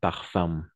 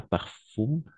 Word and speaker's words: parfum: parfum un parfum d'accord un parfum pas par fou de la même façon un parfum un peu la nasalisation d'accord un parfum un parfum très bien